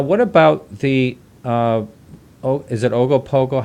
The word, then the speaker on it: Ogopogo: Now, what about the, is it Ogopogo? How do you say that? Yeah, Yeah. Ogopogo.